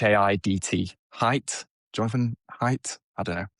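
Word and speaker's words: Haidt: H A I DT height.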